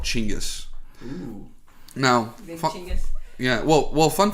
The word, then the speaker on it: Genghis: genghis khan oh so his name is actually chingus khan but i guess through americanization or whatever it ended up being genghis rough translation yeah something